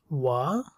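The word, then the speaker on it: は: সো ওয়াতাশি ওয়া, ওয়া তা শি, এগুলো সব হিরাগানা দিয়ে ওয়াতাশি ওয়া, মানে এটাকে উচ্চারণ করে ওয়া, কিন্তু হিরাগানায় এটাকে উচ্চারণ করবেন হা।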